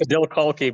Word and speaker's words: Adil Khalqi: Did I It's pronounce that Adil, correctly? it's Adil Khalqi, but that's pretty It was close.